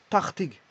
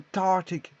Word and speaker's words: tachtig: Parce que le CH se lit R. Hein, il y a un espèce de R roulé. Un espèce de R roulé. Donc, tarte, tartig, ou tartig, tartig.